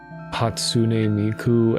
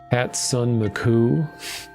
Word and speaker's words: Hatsune Miku: Still remember when Vinnie pronounced Hatsune Miku as uh Hatson Sun Maku like this is the end of the line.